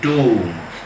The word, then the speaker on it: tomb: TOMB. The last B is silent. ടൂം, ശവകുടീരം.